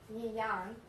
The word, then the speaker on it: yuan: I actually have a Chinese coin, yuan, is how you pronounce it.